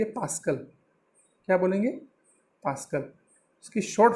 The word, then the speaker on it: pascal: तो इसको बोलते हैं PA, मतलब होता है, प्रोनाउंस करने के लिए आप इसको बोलेंगे पास्कल।